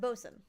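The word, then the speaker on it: boatswain: So, it's pronounced Bosen, but it's called Bway.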